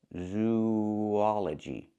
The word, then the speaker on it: zoology: Link these two vowels, zoology. There's a slight w sound linking the two vowels, zoology, zoology.